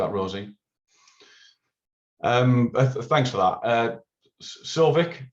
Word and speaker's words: Sauvik: Sovik, apologize if I'm pronouncing your name wrong. No, that's fine. That's correct.